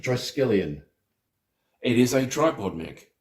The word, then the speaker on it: triskelion: we looking at okay like obviously in my pronunciation was way off oh okay is that a tripod Mac the triscallium triskelion it is a tripod Mac yes 3146 okay